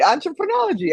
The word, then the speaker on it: Entrepreneurology: Entrepreneurology. I'm right. Right. It's an ology of entrepreneurship. So entrepreneurology.